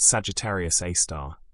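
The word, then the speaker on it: Sagittarius A*: They called it Sagittarius A asterisk, pronounced Sagittarius A star, named after the radio source that had been detected there decades earlier.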